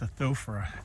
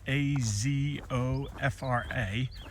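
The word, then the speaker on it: Azofra: I think it's pronounced Athopha. A zo fra.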